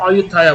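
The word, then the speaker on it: Ayutthaya: Coincidentally থাইল্যান্ডের প্রাচীন রাজধানী হচ্ছে অযোধ্যা, তবে ওদের ভাষায় বা ইংলিশে এটাকে উচ্চারণ করা হয় অযোধ্যায়া বলে।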